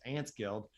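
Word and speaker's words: 4NTS Guild: out to the um they're called ants guild but it's spelled with like a four um so it's four nts uh guild on twitter so the number four nts guild on twitter so it's ants guild and ozzy mandius and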